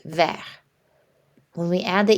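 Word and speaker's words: vert: to see this then in the masculine form our final consonant T is silent ver when we add the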